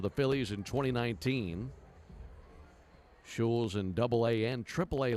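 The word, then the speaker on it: Schulz: Brett shules s c h u l z pronounced shes 621 180lb right-hander from the University of Minnesota and a seventh round choice of the Phillies in 29 19 shes in double A and AAA last season mostly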